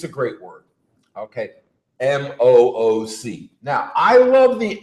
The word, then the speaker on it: MOOC: For those who aren't familiar with either Elliot or the acronym, Massive Open Online Course, which can be pronounced MOOC.